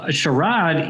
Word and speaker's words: Sharad: i'll talk about this all day long so sharad he am i saying your name right i